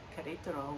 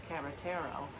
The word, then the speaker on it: Querétaro: So for example, Querétaro, which is the city that's 1 hour away from San Miguel, in the GPS's pronunciation, it's Carretero.